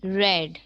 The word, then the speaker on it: read: very good you uh you write a treat but you pronounce it red okay good you write